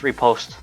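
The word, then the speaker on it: riposte: was the other one it's uh technically pronounced repost or uh repost something that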